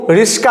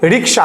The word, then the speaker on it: রিক্সা: কিন্তু পরিবর্তন ঘটে যথা রিক্সা থেকে কিন্তু রিস্কা চলে আসছে কথাটা রিস্কা একচুয়ালি রিক্সা কথাটা হচ্ছে রিক্সা তো উচ্চারণ হচ্ছে রিস্কা তো এরকম টাইপের গ্রামের